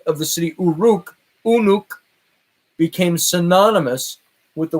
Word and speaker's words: Uruk: And this revealed a very important city in antiquity that appeared under the name Uruk. And a study of cuneiform soon revealed that this could equally well be pronounced Unuk, which was recognized as identical with the biblical word Enoch.